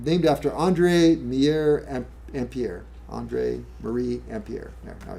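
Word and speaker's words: Ampère: Actually, it's named u named after Andre Mier Ampier.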